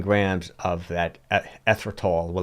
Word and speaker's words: erythritol: But you know what the interesting erythritol, that's how you pronounce it, erythritol.